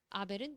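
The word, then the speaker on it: Abel: 자, 이때 able이라고 발음 한번 해보실까요? able. able. 그래서 able은 아벨입니다. 아벨.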